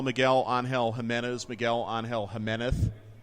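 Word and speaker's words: Miguel Ángel Jiménez: Miguel on Hill Jimenez Miguel on Hill Jimenez that is actually how it's pronounced that's exactly what Jim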